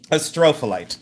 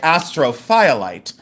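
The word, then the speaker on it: astrophyllite: I say astropholyte. That's the way I pronounce it. Um, some people say astrophiolyte.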